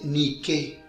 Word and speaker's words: Nike: En griego, Victoria se dice Nike, con la fuerza de pronunciación sobre la E.